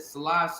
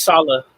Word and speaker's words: Saleh: Because if we're being honest, though, once Robert, I think, I can't pronounce his last name right. Is it Salah? I can't remember the head coach for the Robert Jets. Saleh.